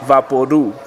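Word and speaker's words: Vaporú: Vaporu is pronounced Vaporu, like loud or chew.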